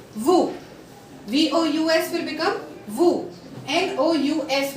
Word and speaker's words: vous: Now, the rule number 13 says that if O and U will come together, the sounding of OU becomes U. OU will become U. For example, VOUS will become VU.